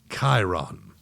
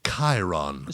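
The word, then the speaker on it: Chairon: Chiron. Spell it. C H A I R O N. C H A I R O N. Like chair on. Like chair on except the ch makes that sound.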